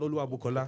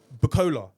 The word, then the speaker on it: Oluwabukola: call my child Oluwabukola. Don't call it a bookie. Don't call it, don't say Bukola.